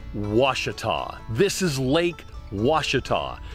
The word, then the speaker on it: Ouachita: you a friendly piece of advice it is pronounced was this is Lake was not wasita Brady Mountain Overlook also has a set of